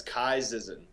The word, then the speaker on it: Ky Zizan: that I have first is how do you pronounce the your name oh it's Kai zzen Kai zzen yeah yeah all right that is